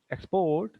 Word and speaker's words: export: You say export or export. I have Export. exported. See, I have decided. I have begin. See the stress. So whenever it is verb, the stress will be on the second syllable.